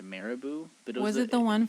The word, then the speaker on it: Marabou: my favorite chocolate and it's i think it's pronounced marabou but was it the one from ikea the